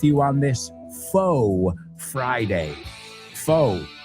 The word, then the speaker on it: faux: Faux. Se escribe faux. Es una palabra francesa. Faux.